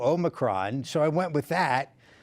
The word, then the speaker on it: Omicron: Long O, Omicron, to Americanize it a little bit. And you got to roll that R, though, if you really want to nail that Greek. Omicron.